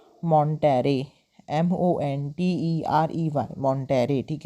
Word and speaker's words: Monterey: And quickly began a relationship with कैरलोटा मॉन्टेरे whom he married in 1929।